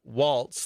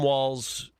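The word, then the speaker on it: Walz: He, you know, he pronounced it Waltz, like the dance, and there is no T in Tim Wall's uh last name.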